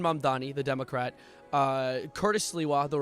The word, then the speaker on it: Mamdani: I say Mamdani. At least I say Mamdani and not like Zoran Mammogram or something.